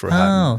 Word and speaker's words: Rohatyn: In the movie, they say it a couple of different ways, but I sort of make it rhyme with Manhattan, Felix Rohatyn.